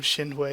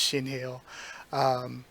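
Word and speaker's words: Shinheuh: But yeah, I've always called them Shinwei, even though I know that that's not correct at this point. I'm pretty certain it's Shinheo.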